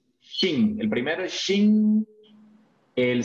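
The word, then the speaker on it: 精: Este se pronuncia, vea. Shin.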